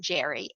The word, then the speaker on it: Gerry: it's a combination of elbridge Gary's last name though now we pronounce it Jerry and the word salamander